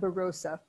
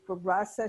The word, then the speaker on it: Barossa: I learned how to say it. It's not Barossa. It's Barossa Shiraz, right?